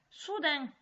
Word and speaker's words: soudain: Soudain. Comme ça se prononce, avec le N de main ou pain qu'on mange.